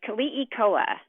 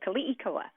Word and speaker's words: Keliikoa: Yeah, it's Keliikoa. So in Hawaiian, all the vowels are always pronounced, but sometimes very quickly. So Keliikoa.